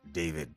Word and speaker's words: D4VD: Singer D4VD, pronounced David Burke, has been arrested